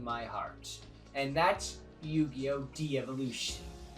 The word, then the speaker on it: Devolution: De-Evolution. Or Devolution, depending on how you want to pronounce it, but I'm going to call it De-Evolution. It's a series that was